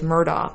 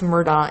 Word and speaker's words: Murdaugh: his son and Maggie, it sounds to me like he's saying Murdaugh, dog. And I heard Paul say it like Murdaugh, like I'm saying it. So listen, Murdaugh is D-O-C-K.